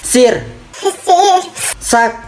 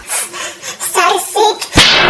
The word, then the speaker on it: sirsak: Ini apa bacanya ini? Ini A. Ini baca. Huruf S ini. Sir. Sak. Dibaca. Sarsik.